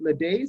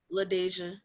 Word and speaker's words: LaDeja: And 10 and 11 for, is it Ladaise? Is that correct? Is that how you say it? I'm sorry? LaDeja. LaDeja. Okay, great.